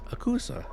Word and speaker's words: Asakusa: s sound similar like our first neighborhood we stayed in Tokyo was called akuka asak asakusa but we have also seen it and being pronounced as akusa Asaka so it gets confusing but according to our tour guide Nori it's the same so just that alone